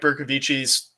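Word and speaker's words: Bercovici: It is pronounced Berkovici, though. A lot of people can't say his name. A lot of people are scared to say his name, and I don't think I heard a single announcer in the AAF say his name correctly the entire season, which is another reason maybe they closed the league down. Not that many people can roll their R's, so we got Coach Petey's.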